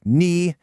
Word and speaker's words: 你: First, that third tone on ni. A lot of beginners say this as a flat, low tone, like ni, but it has to have a dip. Ni, ni.